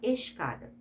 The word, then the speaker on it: escada: Cuidado com a palavra escada. Quando você fala escada, você não fala, eu vou subir escada. Você não fala escada. Você fala, vou subir a escada. Você pronunciou o S e pronunciou o C.